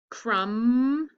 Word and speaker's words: crumb: a tool french and which two of these words um have a digraph with a silent letter it sounds like an um crumb and column these are my silent letters so i'll go ahead